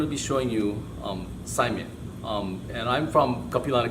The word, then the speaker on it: saimin: today we're going to be showing you um Simon um and I'm from capana Community College from